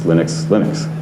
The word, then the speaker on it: Linux: Just like Linus Torvalds says, hello, my name is Linus Torvalds, and I pronounce Linux.